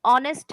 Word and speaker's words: honest: एच है, लेकिन इसका प्रोनाउंसिएशन ऑनेस्ट है, तो यहाँ पे ए या एन?